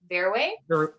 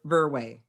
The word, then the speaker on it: Verwey: Verwey? Verwey.